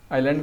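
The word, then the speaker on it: island: और हाँ, कोई इंटरव्यू में पहुँच रहे हैं तो उससे पहले प्रोनाउंसिएशन देख के जाइएगा, कहे कि आइलैंड को इजलैंड पर देंगे वहाँ पर तो दिक्कत हो जाएगा, है ना।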